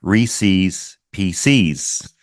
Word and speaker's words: Reese's Pieces: A lot of my friends make fun of me because I pronounce the candy like Reese's PCs.